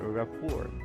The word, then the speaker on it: rapport: Okay, so you're asking for the word rapport. Okay, so the correct pronunciation is rapport. Okay, so you just need to remove the letter T.